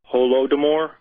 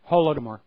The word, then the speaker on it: Holodomor: Holodomor, I believe, is the pronunciation. Yeah, I think you say it with like a guttural R if you're from the region.